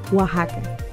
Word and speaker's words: Oaxaca: in mexico in case you were wondering it's pronounced oaxaca there are so many exciting things to do